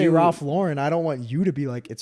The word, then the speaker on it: Ralph Lauren: like it is pronounced Ralph Lauren.